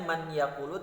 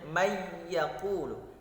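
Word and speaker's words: مَن يَقُولُ: Kemudian mayyaqulu, tulisannya man yaqulu tetapi dibacanya mayyaqulu, maka ditahan 2 harokat.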